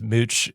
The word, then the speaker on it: Mooch: it right man and mooch confirmed to me one-on-one yes you got it right it's it's mooch like smooch yeah dude so love